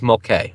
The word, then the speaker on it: Mulcahy: You know, it's spelled Mulcahy. Mulcahy? It's Mulcahy, all right?